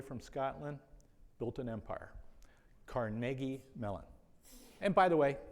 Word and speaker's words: Carnegie: And it is pronounced Carnegie, not Carnegie.